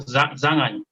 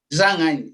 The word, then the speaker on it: Zanghändji: ¿Cómo se pronuncia? Zhang Ai. Zhang Ai, Z-A-Z-A-N-G-H-A-N-D-J-I.